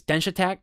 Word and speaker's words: Denshattack: I also know I think the way you're supposed to say it is dench attack like really fast because it sounds like the word dash attack because you're moving you're quickly you're dashing around. I think it's supposed to be a play on words.